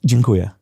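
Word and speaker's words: dziękuję: Jinua.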